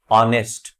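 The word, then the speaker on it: honest: ऑनेस्ट, एच से शुरू हो रहा है लेकिन एच यहां साइलेंट है।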